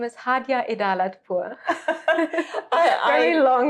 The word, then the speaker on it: Hadjeh Pour: Yeah, my name is Hadjeh Pour.